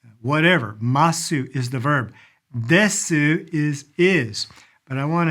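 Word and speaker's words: です: When you see that in writing, desu in reality, the u at the very end is really not pronounced. I say that and I don't know the exact rule. I've never asked a Japanese person this before, but men are more likely definitely not to say the U.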